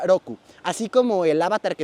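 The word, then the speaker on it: 六: dato, porque son seis del número seis, se pronuncia Roku, así como el avatar que estuvo antes de Ank, para los que vieron la caricatura, pues así, Roku.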